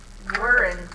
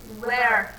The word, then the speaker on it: weren't: Cuidado com a pronúncia, tá? Também, porque tem muitos alunos que acabam falando where, tá? Where. Se você falar where, você está falando essa palavra aqui, ó, de, que significa, né, onde, tá?